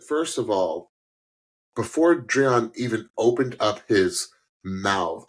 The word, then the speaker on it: Dreion: uh contestant and uh how do you pronounce his name it's Dron I actually learned that